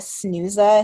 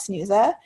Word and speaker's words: Snuza: I bought a thing called a Snooza Hero, and that's spelled SNUZA, and it's an auto rise monitor